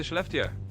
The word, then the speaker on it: Skellefteå: Then from our video, nice job on the pronunciation by the way, you'll hop on the Swedish 95 and head into Schleftia.